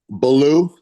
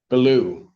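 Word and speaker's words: Balmaulieu: B A L M A U L I E U sir, how is your name pronounced? Belaloo. Beloo. Yes.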